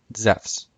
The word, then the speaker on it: Zeus: Zeus would have been pronounced the same way as it is in modern Greek, Zephs.